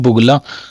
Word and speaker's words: बगुला: नहीं पता था कि बगुला बोलते हैं उसको, वक को। और कई लोग तो इसको क्या बोलते हैं, बुगला, हाँ क्या बोलते हैं, बुगला, बुगला नहीं बगुला होता है, ठीक है।